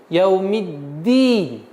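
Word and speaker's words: يوم الدين: Обратите внимание, сперва давим на местонахождение язык д, яумидди, потом четкое, ясное произношение кясры и яумиддин.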